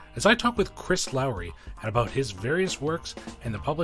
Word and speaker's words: Lowry: This week, I am incredibly excited to be joined by the wonderful Chris Lowry, or is it pronounced Lowry? I want to make sure I get that right. Lowry, okay.